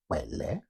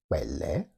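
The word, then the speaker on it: pẹlẹ: Remember, the P sound in Yoruba sounds like a K and a P together. So it is wele. Wele.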